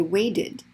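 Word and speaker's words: waited: extra vowel to it we're going to say ud or id okay so wait ends in a t and even though it's voiceless it's a t so we say weighted added for the d but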